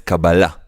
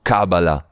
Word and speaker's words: cabalá: dice, por la palabra, la pronunciación es cabala, no cábala o cabala, es cabala, acento en la última a.